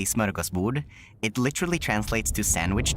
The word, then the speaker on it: smörgåsbord: It's a smorgasbord. That's originally a Swedish word. Yeah, it's originally from Swedish. It's pronounced in Swedish we say smörgåsbord.